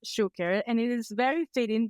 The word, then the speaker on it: Choucair: Our Guest Karen share it is pronounced share and it is very